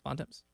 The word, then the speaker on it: Bontemps: Bontemps.